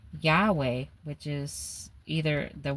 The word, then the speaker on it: Yahweh: title for God the Jewish readers often spoke Adona out loud out of reverence instead of pronouncing the sacred name Yahweh, which is either the